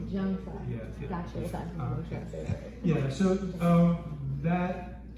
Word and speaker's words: Zhang Sah: Zhang, say it like a J. Zhang Sah.